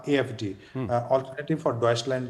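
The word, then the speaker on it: Deutschland: लेते थे, जिसका नाम है AfD, अल्टरनेटिव फॉर डॉइचलैंड, जो उसका जो रियल प्रोनाउंस ये है।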